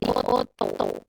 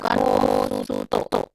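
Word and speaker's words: おっと: Ini akan jadi oto. Oto. Bukan o suto. Bukan o suto. Nah, itu salah. Benernya oto.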